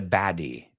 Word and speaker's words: baddie: But in general, it's Americans who pronounce that T as if it were a D.